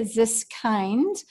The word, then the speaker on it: Ziskind: The next question comes to us from Katie Ziskind. Like a kindergarten.